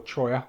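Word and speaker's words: cholla: to do to that piece of CHA wood or choya if you pronounce it correctly is I'm going to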